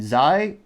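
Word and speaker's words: hir: she, her, hers, herself, they, them, theirs, themselves, Zai.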